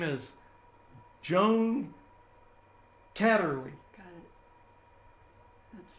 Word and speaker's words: Kaderli: in studio today and her name is joan catterly got it that's right very good i pronounced it correctly so so uh joan you